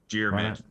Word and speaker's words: Diarmuid: complicated than it is two syllables jid uh so okay jid yeah like like like like with a G not with J kind of like with the J oh well that makes